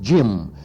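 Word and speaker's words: Diệm: students' rebellion that finally ended the regime of Jim. That's D-H-I-M, pronounced Jim, Premier Jim.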